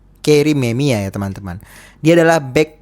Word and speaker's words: Memija: Namanya adalah Kerim Memija, tapi dalam bahasa Bosnia ataupun bahasa Eropa, cara bacanya itu tadi gue chat GPT ya, bahasanya itu cara bacanya itu ya, yaitu adalah Kerim Memia. Kerim Memia ya teman-teman.